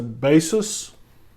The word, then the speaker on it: Baseus: hub for the ipad pro but it's a basis b-a-s-e-u-s i guess they pronounce it it fits on the corner of